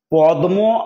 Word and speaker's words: পদ্ম: পদ্ম আসলে শব্দটি যদি আমরা পদ্ম বাঙালি উচ্চারণ করি এবং তাই করে থাকি, পদ্মকে আমরা পদ্মই বলি, তো হলোটা কি তাহলে, আমাদের উচ্চারণটা হচ্ছে পদ্ম মানে প দয়ে দয়ে, বানানটা লিখছি প দয়ে ময়ে।